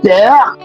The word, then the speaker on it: père: there, in letter C we just spell it P-E-R-E. But that's not it. The E is moving from left to right. So we have what we call l'accent grave. We have père, and then we have élève.